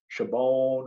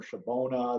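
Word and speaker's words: Shabbona: The image you have up on this screen is a Potawatomi chief by the name of Chabon or Shabona. There's different ways you pronounce it.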